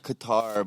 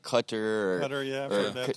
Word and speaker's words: Qatar: guys there and they they actually say like qatar but i've heard like white americans say like cutter yeah yeah there's a